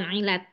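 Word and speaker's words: علة: tadi huruf Ilat itu Ilat bacanya Ilat pakai Hamzah ya t Ilat bukan Ilat pakai Ain pakai Ain Oh pakai Ain Ilat ee huruf Ilat itu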